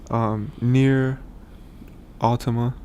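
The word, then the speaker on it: NieR:Automata: Nier Automata, that's how you say it.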